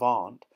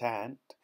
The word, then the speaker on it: aunt: However hard they try, they can't pronounce a simple word like aunt. Instead of aunt, they call it ant.